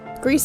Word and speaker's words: Gris: telling you all about Greece yes I pronounced it wrong in the last video thank you Chris and this random guy in the game explained comments Greece is actually Spanish not French for gray and once I found